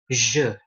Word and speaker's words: je: Oke, kayak kata aku dalam bahasa Prancis, je. Tulisannya J, E, J, E. Dia bacanya je, bukan J, bukan je.